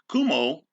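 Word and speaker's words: Cuomo: issues just of course this is governor kumar kumo uh yeah that's how you pronounce his name signing legislation to as you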